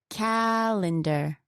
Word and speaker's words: calendar: Now, where would the stress be on a word such as calendar? Can you guess? It's on the first one again, calendar.